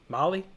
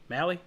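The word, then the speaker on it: Mahle: this guy's name wrong molly mally what are we saying i know i do too it is mali it is an alley but i get it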